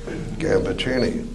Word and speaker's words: Gambaccini: And they came back all fired up with pride in our origins and insisted that we change our name to the correct pronunciation, Gambaccini.